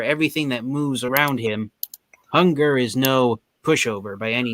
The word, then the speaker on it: Hun-Grrr: The official spelling of Hunger's name is HUN-GRRR. So the way you pronounce his name, you're supposed to pronounce his name like Hunger.